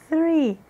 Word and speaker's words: three: Three, som de S com a ponta da língua entre os dentes.